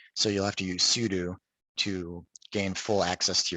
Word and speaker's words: sudo: So it's sudo, not sudo, very commonly mispronounced.